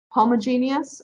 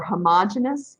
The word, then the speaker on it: homogeneous: general categories of catalysts there's homogeneous or homogeneous catalysts i'm going to say it both ways because both pronunciations are acceptable and there's heterogeneous catalysis